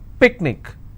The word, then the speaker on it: picnic: will stress on ma picnic i will stress on pick let me bring this